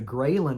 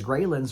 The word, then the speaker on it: Ghrelin: hormones okay there's the grin hormones which is spelled g re e h l i n i kind of almost think of it like the Gremlins okay because greylands make